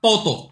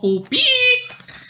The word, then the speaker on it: 뽀또: Hay que pronunciar bien porque está muy similar que Pupi. Entonces, hoy presentaremos la galletita Poto, no Pupi.